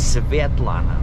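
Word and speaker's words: Светлана: name says Sitlana and it's spelled with a svi lana which I know is Ukrainian because in Russian it's Sevet Lana with E S V.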